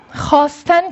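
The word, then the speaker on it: خواستن: Yani bu vav artık okunmuyor. Çünkü A harfi ve H harfi arasında bir vav var. Bunu va mevdu diyorlar ve bunu yazılıyor ama bu okunmuyor.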